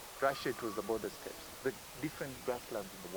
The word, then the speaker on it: steppe: In the Western world it was the prairies, in Russia it was the steppes. I don't know how to pronounce that.